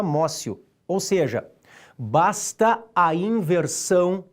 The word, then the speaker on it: amotio: aprehensión ou amós you você escreve amotio e pronuncia márcio ou seja basta a